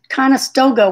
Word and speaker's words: Conestoga: Conestoga wagon.